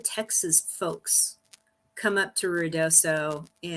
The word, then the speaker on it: Ruidoso: Is it Ruidoso is how you pronounce it?